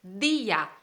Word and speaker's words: día: Entonces, día, día no es ya, no es un monosílabo, es día. Hay la sílaba di y la sílaba a, día, entonces es una palabra